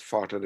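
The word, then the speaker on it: Vater: was a german anatomist abraham water are as you know they pronounced as farted in germany and he described the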